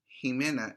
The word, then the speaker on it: Ximena: x x okay x there are people who have names with x with x one is ximena who is also spelled with an x ximena it sounds different right and so is javier javier is also written with this x as well so it's a very interesting sound to hear the lowercase x